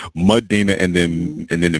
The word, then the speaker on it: Madina: get older, you know, I've met people with the name Medina, but not spelled the same way that mine is spelled. Would you spell yours? M A D I N A. As you know, most people spell it M E. D I N A, which is actually a Spanish last name. Mhm. Not to be confused. Yeah, exactly. Mudina and then and then